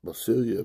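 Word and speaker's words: basileia: God that bossy Lou uh basilia okay you pronounce it basilia but it is okay the translator is Kingdom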